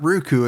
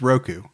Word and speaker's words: Roku: It's not Ruku, it's Roku.